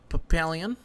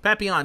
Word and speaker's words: Papillon: move on to uh papaleon did i say his name right i think i screwed it up happy yawn happy on there you go thank you very much papiyan tell us what papillon